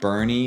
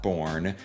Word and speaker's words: Boerne: Bernie, Boerne, is pronounced Bernie, not Born.